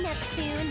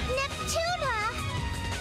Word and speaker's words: Neptune: Hi, I'm Neptune, the film club president. Neptuna!